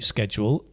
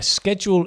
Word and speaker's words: schedule: I have a blank study schedule this term. Fast, hurry, hectic, or rush? Yeah, schedule is the American pronunciation, but I sometimes use that. But British people tend to say schedule.